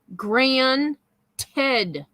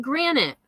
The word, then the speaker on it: granted: that's that could change Grand Ted not Granite we're not talking about countertops Betty it is Grand tid even closed captioning knows